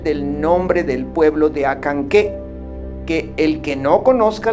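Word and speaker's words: Acanceh: claro es el del nombre del pueblo de acanqué que el que no conozca la regla correcta pronuncia a cansé es suficiente comprender que la c siempre se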